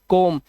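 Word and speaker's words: come: इसे सम none love कोम। इसे कोम नहीं पढ़ते।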